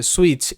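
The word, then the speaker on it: switch: হচ্ছে সুইচ, এটা ভালো করে বুঝতে হবে, এখানে কিন্তু টি সাইলেন্ট রয়েছে। SW সু সাউন্ড হচ্ছে, আই এর সাউন্ড রস্বই, টি এখানে সাইলেন্ট, টি এর উচ্চারণটা হবে না।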